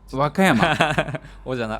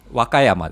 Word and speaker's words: 和歌山: Wakayama. Oka chứ không phải Waka nhỉ. Nhắc lại một lần nữa được không? Ở đâu vậy? Wakayama. Wakayama.